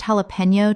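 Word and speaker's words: jalapeño: Jalapeno. Common mispronunciation. Jalapeno. Correct pronunciation. Jalapeno. The J makes an H sound in Spanish and the N Y makes a knee sound. Example. She added sliced jalapeno to the guacamole and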